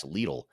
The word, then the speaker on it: Lidl: It was a little or is it Lidl. I think in Germany they say Lidl, but in other parts of the world they say Lidl, from what I understand.